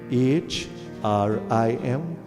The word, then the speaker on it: Hrim: Then the term Hrim, H-R-I-M, or sometimes you hear the word H, you see the word H-R-E-E-M, Hrim.